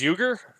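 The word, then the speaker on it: Uygur: I know that lesson is pronounced to you gir it's you gir yeah we're you gir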